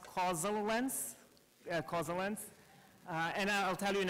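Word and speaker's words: causaLens: To explain the name, it's actually pronounced causal lens.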